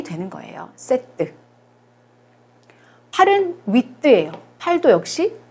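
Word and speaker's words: huit: 8은 위트예요. 8도 역시 발음이 돼요.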